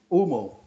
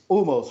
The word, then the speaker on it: Umo: So OOH is oo, and then MO is mo. So you put it together, it's Umo. So it's Umo Smoked Cigars.